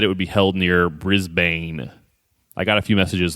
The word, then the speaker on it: Brisbane: explain my bad guys it's pronounced Brisbane more messages still wrong it's Brisbane say it like there are no vowels in it Brisbane I finally